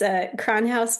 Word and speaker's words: Kronhaus: Lindsey, I know that you are on Facebook and Instagram, and I am going to have you pronounce your business name. It's Kronhouse Custom Works.